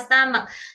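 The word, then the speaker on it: stomach: Perut itu kebanyakan teman-teman pronounce-nya stom. Stom. Stom. Stom. Ada yang bilang stom gitu kan. Nah pronunciationnya apa? Stomak.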